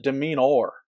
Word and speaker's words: demeanor: Or is it demeanor? Demeanor. It's demean. It's 3 syllables.